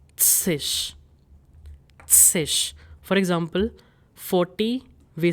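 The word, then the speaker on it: -zig: So in German it is tsish.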